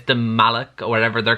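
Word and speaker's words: Malach: I'm not sure if I'm pronouncing that right. It's M-A-L-A-C-H. I'm assuming it's pronounced Malak. And these are like some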